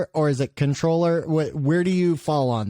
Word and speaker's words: comptroller: But controller is the proper way to say it.